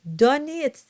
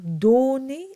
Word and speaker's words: donné: And the donné, the O is open. It's not donné, it's donné. So it's a bit more open.